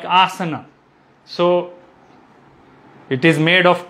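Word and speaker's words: आसन: quickly like recapitulate okay in sanskrit we have two a sounds a and ah so the pronunciation of a sounds need to be uh kept in mind like asana so in this word aasana there are three is a's right so the first a is long a ah and sir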